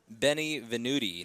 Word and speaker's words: Benvenuti: James Benvenuti, not Benvenuti, not Benny Benvenuti.